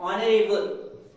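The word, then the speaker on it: honourable: Okay, and ऑनरेबल, तो यहां पर भी एच हमारा क्या होगा? साइलेंट।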